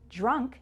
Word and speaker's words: drunk: bank thank ankle drank drunk has the unk sound like in chunk skunk and trunk let's try it chunk